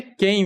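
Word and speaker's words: Kain: aquele Caim velho falei quem né velho na verdade é kem mesmo é isso aí você pronuncia quem Mas você escreve Caim velho eh exato o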